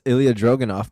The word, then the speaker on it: Ilja Dragunov: It's Ilja Dragunov, bro. Sorry, I'm not good with pronouncing names, man.